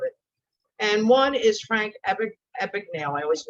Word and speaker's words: Abagnale: And one is Frank Abagnale. I always mispronounce it as Abagnale.